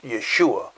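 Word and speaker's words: ישוע: which in hebrew as i've said before is pronounced yeshua which actually means the word salvation matter of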